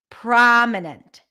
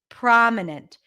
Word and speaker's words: prominent: but what is it PR PR prominent prominent the most prominent syllable in a word is you can hear it higher in Pitch prominent longer and a little stronger this is very subtle but you can notice it prominent prominent the middle syllable